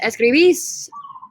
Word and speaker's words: escribís: Vosotros escribís, escribís, with an accent on the I.